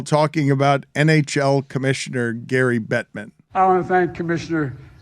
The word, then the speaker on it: Bettman: a young man yeah and emphasizing the wrong syllables that's correct and joe biden says this while talking about nhl commissioner gary bettman i want to thank commissioner gary batman and for being here as well it wasn't